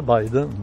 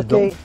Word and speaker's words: Biden: Ben, on le prononce habituellement Biden, pas Bidon.